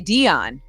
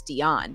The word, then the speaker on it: Deion: would you say it people say Dion but it's not it's Dion you said it right you